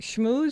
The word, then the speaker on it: schmooze: Schmooze spelled like school. SCHMOO like the cow, ZE.